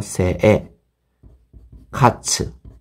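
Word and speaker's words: 生活: 장음이 있기 때문에 여러분들이 이렇게 장음이 있을 때는 앞에 음에 연음이라고 생각하면 돼요. 그래서 세에 카츠. 네, 이렇게 생각하시면 돼요. 세에 카츠. 세에 카츠. 그죠? 세에 카츠. 그러면 어느 정도 정확한 일본어의 장음 발음을 할 수가 있습니다.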